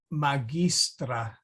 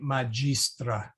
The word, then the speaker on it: magistra: classical pronunciation so notice she said magistra whereas we would say majistra so you will hopefully